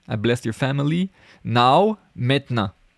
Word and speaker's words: maintenant: Now, maintenant. I wrote it like this. Maintenant. Because the E is really not pronounced.